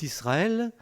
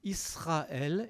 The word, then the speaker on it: Israël: du est seul mais vous remarquerez au passage que je dis israël est pas israël et les juifs disent tous israël et ils ont raison parce qu en france l es se prononcent eux quand il est entre deux voyelles et ici c'est pas le cas donc on n'y pas normalement alors c'est dans l'habitude mais en principe on nie pas israël et les juifs disent